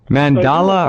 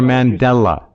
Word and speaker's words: Mandela: Mandala or Mandela? Mandala? Mandela effect. Mandela effect.